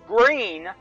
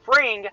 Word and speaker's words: Fring: yeah I do want to apologize I I pronounce of Gus green who I miss tingling with Danny Glover's character and gone fishing but it's actually pronounced freeing not Green so again apologies for that and